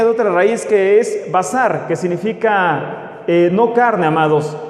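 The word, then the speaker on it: בשר: Y entonces, nada que ver con carne, por decirlo así, que también así se pronuncia en hebreo, basar, pero está vocalizado de una forma diferente.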